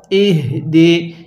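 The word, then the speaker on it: يهدي: ইহ দি। এই শব্দটাকে আমরা অনেকেই ইহ দি অর্থাৎ হাঁটা উচ্চারণের সময় মুখ দিয়ে বাতাস বের করি।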